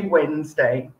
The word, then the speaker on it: Wednesday: this could work is you probably know the word wednesday yes probably say wednesday but you think about how it's spelt it's spelt with a d but if i say wednesday then obviously it sounds wrong doesn't it yeah it's wednesday so that's a good example